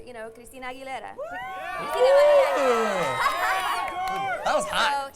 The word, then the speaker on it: Aguilera: should you know your your last name is hard for certain people to pronounce a you get a lot of aguilera sometimes but I let it slide. You know but I was like no this is my name Aguilera.